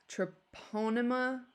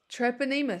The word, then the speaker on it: Treponema: can cause peptic ulcer troponema pallidium troponema pallidium treponema thank you Jacob treponema pallidium he's my